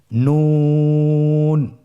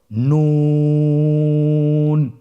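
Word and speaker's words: نون: নুন হরফটি উচ্চারণের ক্ষেত্রে অবশ্যই পাতলা করে উচ্চারণ করতে হবে এবং তিন আলিফ টেনে পড়তে হবে। আপনারা আমার সাথে বলুন নুন।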